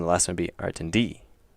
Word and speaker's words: Artindi: So, like Artindi is 3 syllables long, and if they put it on the first syllable, then it would be Artindi, and if it was on the second one, it'd be Artindi.